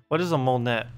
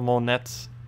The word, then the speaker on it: Monet: a painter then a Monet a moment in time a Monet a Monet not Monet so basically money but without the other syllable Mon Mon wait how